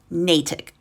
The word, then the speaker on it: Natick: And a lot of you are very mad that I mispronounced it and said Natick. So, Natick.